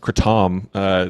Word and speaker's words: kratom: Apparently, and this is just a side note, apparently it's supposed to be pronounced Kratom.